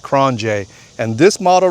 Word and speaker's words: QRONGE: A lot of people say it's cran krange, but it's actually pronounced kronj.